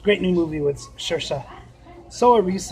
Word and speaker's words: Saoirse: Soa Reese is how you kind of spell it, and it's misspelled as Saoirse.